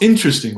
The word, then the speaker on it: interesting: Don't forget the most interesting one. The word interesting also contains a chocolate syllable.